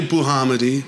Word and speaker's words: Bouhamidi: very good pronunciation yeah yeah how do you pronounce it just the way you said it yeah I say buhamidi or depending depending on where I am actually